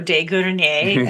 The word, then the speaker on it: de Grenier: And I get it because it is actually in French, as you know, de Grenier.